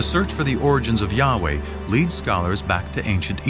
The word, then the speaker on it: Yahweh: sense was God and his name was these four letters which in English would be yhw H which we think were probably pronounced something like Yahweh but Yahweh only